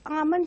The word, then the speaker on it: almond: It is Almond House. L is silent over here.